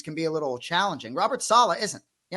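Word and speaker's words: Robert Saleh: be a little challenging Robert Sala isn't he emphasize the first syllable so you've beaten that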